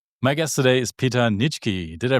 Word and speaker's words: Nitschke: My guest today is Peter Nichki. Did I pronounce that right?